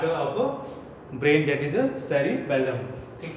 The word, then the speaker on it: cerebellum: This is the second part of brain, that is a cerebellum. ठीक है. Don't confuse between both, है ना, इनका जो प्रोनाउंसिएशन थोड़ा सा चेंज है. ये cerebrum है और ये cerebellum है.